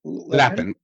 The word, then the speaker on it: Lapin: Did I pronounce the last name correctly? Lapin. Lapen.